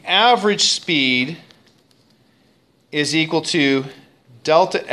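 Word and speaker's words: Δ: over this time of delta T that triangle is not pronounced triangle it's pronounced Delta it's a capital D in Greek and that Delta means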